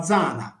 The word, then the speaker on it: Diana: Pertanto, ad esempio, Deus, Deus si leggeva Zeus e Diana si leggeva Zana, come la nostra Zana.